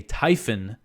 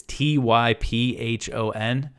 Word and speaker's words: Typhon: the US deployed a Typhon I believe that's how you pronounce it it's typ ho n it looks like it should be typhoon but there's only one o so I'm GNA say